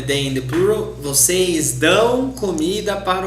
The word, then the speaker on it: dão: Here it's a nasal sound in Portuguese, dão.